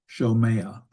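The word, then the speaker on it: שֹׁמֵעַ: Notice the sheen has two dots over it. And you may look at that and go, okay, is that a sheen or a scene? Well, it's a sheen, and it has a holum vowel. So it's shomea.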